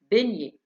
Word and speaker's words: beignet: تركيبة حرفي GN تعطي صوت ن كما في beignet.